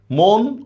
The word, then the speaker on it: মন: মন অমর কত অনাশ্রিত মন অমর কত অনাশ্রিত রাইট আনসার হচ্ছে মন এটা কিন্তু ব্যতিক্রম এই যে মনের যে উচ্চারণটা এটা কিন্তু ব্যতিক্রম এরপর আসেন কুশিলভ শব্দের